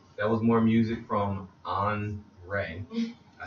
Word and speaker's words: OnRae: That was more music from OnRae. I said it right this time, right? OnRae. It's not OnRae? OnRae. My homie for a second. You said it's like Andre without the D.